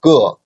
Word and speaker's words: 个: Okay, and the Ge, its original tone of Ge is a fourth tone syllable. But in spoken Chinese, we always pronounce Ge as a neutral tone.